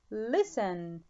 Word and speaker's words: listen: Listen تي لا تنطق.